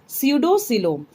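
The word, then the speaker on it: pseudocoelom: Okay, P is silent here. स्यूडोसिलोम, इनके अंदर आएगा निमेटोडा.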